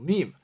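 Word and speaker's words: ميم: 我们来复习一下，首先我们学了这个字母 meme， meme 标静符读成嗯嗯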